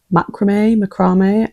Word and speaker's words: macramé: Let me actually find out real quick. Macramé. Okay, so both of the options I said were wrong.